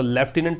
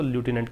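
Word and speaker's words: lieutenant: पर प्रदर्शित करेंगे तो लेफ्टिनेंट पढेंगे since wheat flour British accent that's why वी कैन यूज इट इज लेफ्टिनेंट अगर अमेरिकन इस की बात करें तो लूटेड कह सकते हैं इसकी स्पेलिंग इंपोर्टेंट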